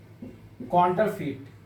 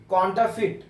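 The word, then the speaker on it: counterfeit: pronunciation होगा correct pronunciation कांटर फिट कांटर फिट कांटर फिट आर को पूरा प्रोनाउंस नहीं करेंगे कांटर फिट कांटर फिट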